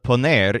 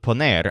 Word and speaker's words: poner: putting other forms of poner in this room are pretty standard the stress syllable pong applies to pawn a bonus and ponen in the